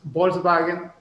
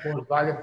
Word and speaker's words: Volkswagen: Entonces, Volkswagen no se pronuncia Volkswagen, se pronuncia Volkswagen, como si fuera una F al principio.